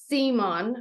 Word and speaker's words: Zemon: So today we have Matt Zemon. Am I pronouncing that correct?